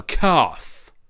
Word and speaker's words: calf: How about he Klepeth calls a calf a calf, right? He doesn't pronounce the l in calf, which once was pronounced.